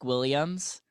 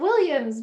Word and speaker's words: Guilliams: do you say it my last name is williams and i always i always tell people the inner oh it's kind of like william's book williams okay there we go